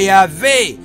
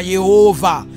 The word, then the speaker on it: Yahweh: Yehova ni matamshi ya Mungu Yahwe, lakini ambayo yalitegemeana na lugha ya Wayahudi ambao walikuwa wanaishi maeneo ya Ugiriki, maeneo ambayo walikuwa wanaongea lugha nyingine. Kwa hiyo wakashindwa kutamka Yahwe ambayo kwa Kiebrania inatamkwa Yahwe, wao wakasema Yehova.